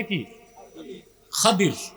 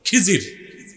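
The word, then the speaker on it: খিদির: বান্দা তার নাম খাদির যারে আপনারা বলেন খিজির উচ্চারণটা কিদির আমাদের দেশের লোক বলে কি খিজির এটা ভুল উচ্চারণ শুদ্ধ উচ্চারণ কি মুসা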